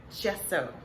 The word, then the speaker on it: gesso: So I am making gesso, which Google has told me is the correct pronunciation for that.